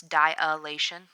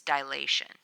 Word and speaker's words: dilation: and some people a lot of people will pronounce this dilation there's no a after the eye it's dilation you get your eyes dilated dilated and so